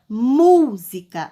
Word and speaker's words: música: Na palavra música, ó, música, qual é que eu pronunciei com mais força? Eu pronunciei a sílaba mu.